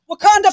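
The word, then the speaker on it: Wauconda: wakanda Illinois W wakanda Illinois Wanda it's just wakanda it's just wakanda that's right that's so dope wakanda forever dude all right yes all right so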